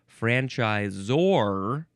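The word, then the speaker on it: franchisor: So now we officially have to move on to franchiseor. Franchiseor. Yeah, you'd probably just say franchiseor. Anyway, you are supposed to emphasize that last syllable.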